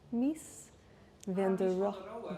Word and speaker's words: Mies van der Rohe: We have a Dutch person who might be able to pronounce Mies van der Rohe. Mies van der Rohe. There we go.